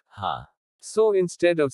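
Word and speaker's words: ห้า: for those in need in thai the number five is pronounced ha so instead of saying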